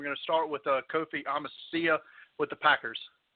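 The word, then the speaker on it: Amichia: We're going to start with Kofi Amasia with the Packers. Kofi, it's Amici is how you pronounce it, and he's actually gearing up for training.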